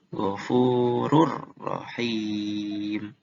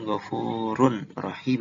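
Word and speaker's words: غفور رحيم: Kalau huruf ro, ghafurur rahim. Rur rahim. Harusnya kan ghafurun rahim ya. Tapi ini jadi ghafurur rahim.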